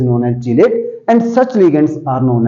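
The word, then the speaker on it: chelate: cyclic compound बना है इसको बोलते हैं चलेट कई बार इसको प्रोनाउंस किया जाता है कलेट और कलेट लिगेंड्स भी बोला जाता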